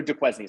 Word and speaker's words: Duquesne: It's Duquesne, by the way. We just say Duquesne because that's funny. It sounds like David Duquesne. We're not pronouncing it correctly.